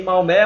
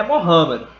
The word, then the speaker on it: Maomé: maomé o profeta mohamed a pronúncia correta de maomé mohamed só que quando a gente a brasileirismo negócio fica maomé mas lá ele não